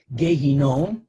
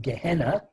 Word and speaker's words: Gehinom: Gehinom, also known by its Yiddish pronunciation, Gehenna, is the Jewish term for hell.